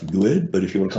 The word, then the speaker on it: GUID: They have a GUID, which I always pronounce good, but if you want to call it good, that's okay with me.